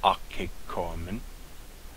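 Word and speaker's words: ἀκηκόαμεν: Notice akekoamen, the O omicron and the alpha are not a diphthong, so it's pronounced akekoamen.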